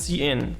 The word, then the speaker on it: cin: Enter your password, and then with a cin towards password, the cin refers to the statement, refers to the standard input stream pronounced cin for character input.